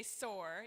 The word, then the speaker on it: PSOAR: of Arkansas, PSOAR, and, or just say SOAR, yeah, with a P. The P is silent, like psychedelics, duh, sorry.